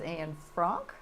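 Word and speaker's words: Anne Frank: today we're here to talk about Diary of an Frank now the proper pronunciation is an Frank yeah and you are an I am an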